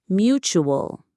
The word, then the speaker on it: mutual: It's nice and short. Mutual. 2 syllables. Mutual. The stress is on the first syllable.